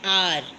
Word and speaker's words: hour: A house, but an hour. H at the beginning of R is silent.